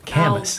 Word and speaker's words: Camus: Isn't it pronounced Camus? No, I'm just kidding. Yeah. Camus? It's Alberto Camus.